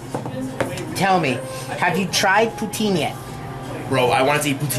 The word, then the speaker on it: poutine: Poutine. Protein?